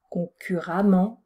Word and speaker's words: concurremment: prend e2m ent donc attention ça se prononce concurremment mais ça s'écrit e2m ent alors je termine avec